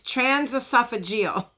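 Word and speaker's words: transesophageal: not the way he wanted them okay it's trans esophageal that is how you say it correctly all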